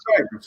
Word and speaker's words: Thames: I was thinking his is Neanderthal, and It's So- truly it's Thames.